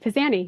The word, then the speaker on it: Pizanie: You did, Pizanie, yes. Pizanie. Okay, so it sounds Italian. Is it Italian? It's actually French, Pizanie. Oh, French.